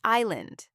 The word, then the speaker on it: island: That S is silent.